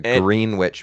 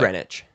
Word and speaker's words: Greenwich: A green witch mean time. Yeah. Which is like Greenwich.